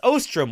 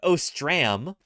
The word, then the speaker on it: Ostrom: wrong what a shame it's Ostrom with an O not ostram Ostrom Ostrom oh boy